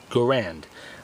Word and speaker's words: Garand: as the garand and yes that's how I pronounce it garand I know there's a lot of people that